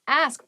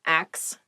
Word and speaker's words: ask: next word is ask ask please pronounce this correctly it is not ax many native speakers make this pronunciation mistake and it really bothers me ask ask me about